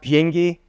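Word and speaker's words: 비행기: So in Korean, airplane means, it's pronounced biengi. There's a biot symbol. So when I said fob, it's not fresh off the boat. I would say, you're fresh off the biengi.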